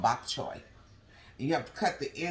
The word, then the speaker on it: bok choy: Bok chow. Victor, how do you pronounce it? Bok chow? Bok chow? It's pronounced bok choy.